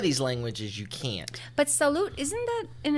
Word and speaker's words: salut: the word is salute I'm saying salute but it's spelled s-a-l-u-t so if I'm gonna say it the way it's spelled to me it sounds like I'm saying Sal you know and if people greet each other I think imagine how that would come off the U is often an ooh sound right because the way